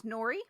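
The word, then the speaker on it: Newry: siren but something is silent I'm gonna guess Nui Nui that that sounds good I like Nui but I feel like the r is in here somewhere Neary friends this is Nori oh no it's not no it's [ __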